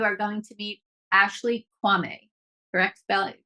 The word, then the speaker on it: Quamme: where today you are going to meet Ashley Kwame her ex pronunciation of your name yes okay a licensed